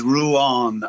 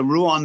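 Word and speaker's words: Ruán: So because Ruan on the A, there's a fada, an accent, and that accent is crucial to the language and how we pronounce things. So okay.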